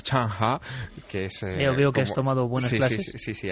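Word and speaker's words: Zheng He: que un colón chino allí no se llama senje Allí se llama chanha que es Tom Sí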